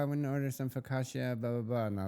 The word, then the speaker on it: focaccia: And she was like, oh, I want to order some focaccia, blah, blah, blah. And I was like, actually, you know, in Italy, they pronounce it focaccia.